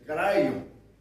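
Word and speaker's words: Kryon: Nos Estados Unidos, também um canalizador recebe mensagens de um espírito que se chamou de Cryon, se escreve Cryon com Y, mas em inglês ele é Cryon.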